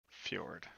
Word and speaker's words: fjord: like troll and fjord fjord like ford like to florida river no fjord uh